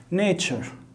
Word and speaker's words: nature: nature، nature. التي مع اليو كده تتنطق اتشا.